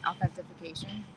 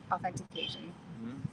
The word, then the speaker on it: authentication: to draw attention to how you say authentication I say it wrong I'm never sure about how it doesn't seem right authentification authentication no f is there an F in the word yo in today's presentation